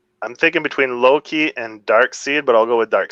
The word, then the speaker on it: Darkseid: i guess dark side i thought it was canon that it was dark side but i always pronounce it dark seed yeah i don't know